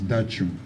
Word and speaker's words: Dachong: So I'm sure when you come to Plateau State, we will teach you how to pronounce it as Dachong.